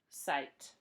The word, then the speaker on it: sight: Do we say the GH? No, we don't. They're silent. T. Sight.